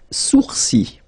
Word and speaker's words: sourcils: Les sourcils. Les sourcils. Okay, so it's quite strange because you get this LS at the end, but then, well, you don't pronounce them.